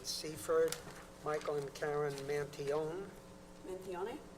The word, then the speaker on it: Mantione: Mentione? Mantione. The E is silent.